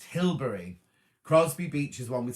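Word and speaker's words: Hilbre: years walking across to hilbra oh pronounced hillbury crosby beach is one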